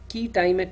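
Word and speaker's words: quia timet: Now, even among injunctions and ex parte injunctions, there is something called a key timet injunction. It's spelled as QUIA space TIMET.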